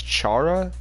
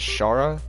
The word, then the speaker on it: Chara: The name is Chara, although I pronounce it as Shara.